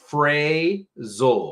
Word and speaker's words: phrasal: kind of say it it's like Frey and then zul this is kind of